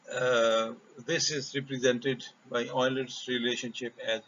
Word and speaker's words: Euler: number is provided by euler's representation note that you should pronounce this as euler euler's a famous mathematician this is euler's relationship